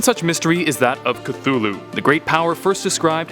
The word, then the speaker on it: Cthulhu: It should be noted that Lovecraft originally intended the name to be pronounced closer to Cthulhu, because it originates in an alien language that can't be properly spoken by humans. However, the easier form, Cthulhu, is more prevalent, so that's what I'll